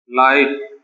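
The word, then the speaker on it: light: ये क्या हो जाएगा, लाइट। ये क्या हो जाएगा, नाइट। के साइलेंट क्यों है वो भी हम आपको बताएंगे।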